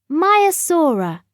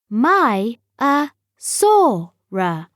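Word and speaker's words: Maiasaura: over their young how do you say it maya sora say my a sorrow in the sea many animals live in the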